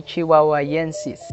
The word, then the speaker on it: chihuahuaensis: just said 2016 but it's actually chihuahua yensis it doesn't have nancy's at the end of the word it has enzis so chihuahua and sis so that's how the